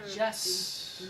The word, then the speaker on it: Jussie: First of all, it's Jussie, not Jesse.